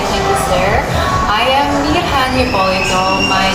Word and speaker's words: Mirjan: you sir I am Mia paulito my name is actually pronounced as Mia and it is a Croatian name a lot of people